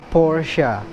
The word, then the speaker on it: Porsche: Next, kita punya Porsche. Oke, jadi pabrikan asal Jerman ini disebutnya yang benar itu adalah Porsche. Ada kayak sedikit huruf A-nya gitu di akhir, guys.